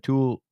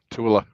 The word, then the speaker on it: Tooele: The Cabela's account out of Tool. How do you say that? Tooele.